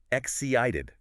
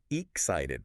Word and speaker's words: excited: For excited, the stress must be on the second syllable. Excited. not excited.